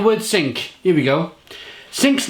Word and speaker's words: Cinque: think here we go sinks name derived from the French Norman French word meaning five pronounced sink and pays tribute to